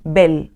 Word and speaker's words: Bel: es el Dios Celta y lo voy a decir cómo se pronuncia es Bell Amén la piedra hogar estaba